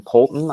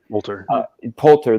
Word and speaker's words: Poulter: Preston Polton, I think is his name. Poulter. There you go.